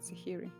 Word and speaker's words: Sahiri: an h um s-a-h-i-r-i it's like sahara but sahiry she is constantly trained